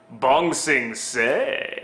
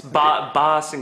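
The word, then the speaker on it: Ba Sing Se: Bong Sing Say. It's Ba Sing Say.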